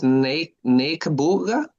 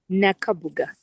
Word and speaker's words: Nakabuga: So, I'm not sure how do you say your name is Nabooga. Nakabooga. Nakabooga.